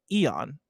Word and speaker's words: Aeon: Nano Biologist says Aeon is pronounced Eon.